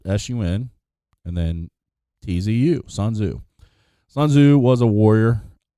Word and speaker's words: Sun Tzu: Some people say it was a combination of a bunch of different people, but it's Sun Tzu. It's spelled S-U-N and then T-Z-U, Sun Tzu.